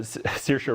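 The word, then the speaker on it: Saoirse: hannah uh yeah so circa ronan played the daughter hannah and uh and then kate uh blanche well pronounced i must say like inertia inertia just like inertia she uh anyway it's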